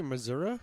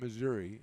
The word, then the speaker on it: Missouri: Did you say Missouri? Missouri, that's how you say it. Okay. Because my father-in-law was from Missouri, and he says it Missouri.